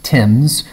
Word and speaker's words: Thames: okay so the story begins on the River Thames the the River Thames is a river that runs through London it's very famous river okay so it's spelled tames or Thames but it's pronounced Tim's so ask the English why I don't know